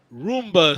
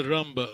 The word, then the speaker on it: rumba: Rumba. Some people pronounce Ramba.